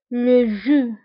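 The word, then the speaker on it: le jus: العصير لو جو. لو جو. وبالنسبة لو جو يكتبوا ب اس في اخر الكلمة ولكن لا ننطقها، نقول فقط لو جو.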